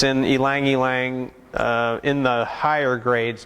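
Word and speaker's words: ylang-ylang: it's more floral talking about the yangyang it's pronounced elang elang Lang yeah I've heard a lot of different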